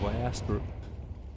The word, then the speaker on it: Viaster: I feel like I'm just, you know, making fun, but hey, the guy in the chat said that that's how you pronounce his name, Viaster.